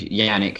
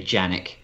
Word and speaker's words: Yannick: Yeah, I was never confused about it because I went to school with a boy named Yannick, and it was Y-A-N-E-K. And that's how it's pronounced. You never say Janik.